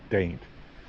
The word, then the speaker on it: Dante: Nice little welcome sign for Daint. Okay, so we're going to do a quick little tour of Daint, Virginia. I know it's spelled Dante, but it's pronounced Daint.